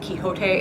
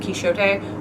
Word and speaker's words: Quixote: Also, if you are a literary snob and you shame people for saying Quixote instead of Quixote, you need to stop. Look, they're both perfectly freaking acceptable.